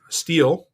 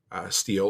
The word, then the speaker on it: Stihl: Milwaukee, all of those, Stihl, and I don't know about Husqvarna, but I'm familiar with Stihl or Stihl, depending on how you want to pronounce it. But the company is STHIL.